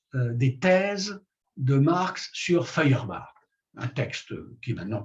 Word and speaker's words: Feuerbach: Feuerbach, ça s'écrit F-E-U-E, Feuer, le feu, F-E-U-E-R-B-A-C-H, Feuerbach.